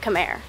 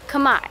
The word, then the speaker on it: Khmer: I think I was always pronouncing it Khmer, but Khmer.